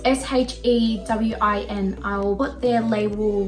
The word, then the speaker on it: Shewin: I think that's how you say it. It's kind of like Shein, but it's Shewin.